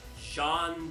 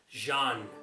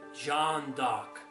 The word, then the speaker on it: Jeanne d'Arc: Jeanne d'Arc. Yeah, it is pronounced Jeanne, not Jean. Jeanne d'Arc, because she was a French character.